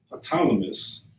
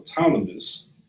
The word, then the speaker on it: Ptolemy: Simon, his brother of Galilee, before, I always pronounce this wrong, the Ptolemy, pretty sure that's how you say it, Ptolemy, like you got to realize that, of course,